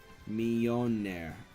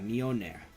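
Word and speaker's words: Mjölnir: How did HD say it was pronounced? It was pronounced let's see, it was pronounced Mjolnir, I think. Yeah, Mjolnir.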